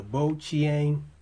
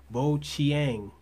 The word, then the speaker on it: Bojiang: my review of the bo Chang S1 chiropter now I'm hearing that in Chinese the J makes a CH sound so if that's true then this company is pronounced boang so this this is